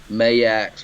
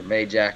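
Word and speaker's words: Majek: I think you said it right the first time. I've been calling it the wrong thing forever. I've been calling it a Majak, but I've been corrected.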